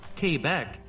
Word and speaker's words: Quebec: In the province of Quebec, which is pronounced Quebec, that number is close to 80%.